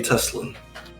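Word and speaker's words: Tesslyn: It's Lady Teslan.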